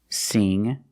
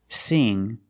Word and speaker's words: sing: So when you see words like wing, sing, and bring, you see the combination of ing, you know it's a long E sound like green beans. Listen to the sound. Wing, sing, bring. That's a long E, not a short I.